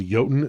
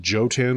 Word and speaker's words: Jotun: kin ancestry and yes it's called yoten not Jan which I've heard people mispronounce it like that link to the